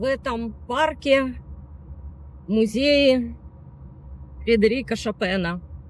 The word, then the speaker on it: Chopin: Франции, из Германии, поэто Мы произносим фамилию именно таким образом шапен, поскольку во всех языках эта фамилия звучит именно Фридерик Шапен. Если мы будем говорить Чопен, то нас, к сожалению, не поймут французы и англичане.